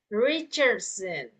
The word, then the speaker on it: Richardson: Okay, but since this is combined into 2, so we pronounce that as Richardson.